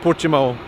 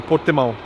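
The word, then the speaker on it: Portimão: it out portimo pimo in Brazil I probably pronounce it pimo but I guess here Portuguese people say portimo anyway we're going to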